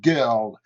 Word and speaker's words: girl: Et ensuite, on a aussi un deuxième R anglais avec ce mot fille qui est girl, girl.